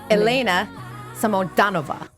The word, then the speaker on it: Elena Samodanova: All right, let's see if I can get this, because I was like, how do you pronounce this in Russian? But it's Elena Samodanova.